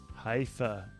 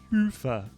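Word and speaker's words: Hyvä: Talk Commerce is sponsored by Haifa, or as the Europeans say, Hoofa, or the right way to say it.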